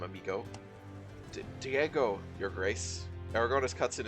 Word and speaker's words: Diego: You have to say Diego, so it rhymes with amigo. Diego.